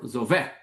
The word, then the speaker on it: Zovek: I think is it pronounced Zovek? Well, it could be, it could be, but I apparently think I read I that heard that the, on yeah, the stress though is apparently on vec, which is Zovek.